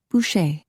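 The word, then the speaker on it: Boucher: Officer Bush. She pronounced it the French way, like Busher. It sounded pretty coming from her, even though he knew it meant butcher.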